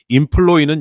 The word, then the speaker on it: employee: 보통 이 이라는 전미사로 끝나는 단어의 강세는 맨 뒤에 있지만 employee는 예외입니다.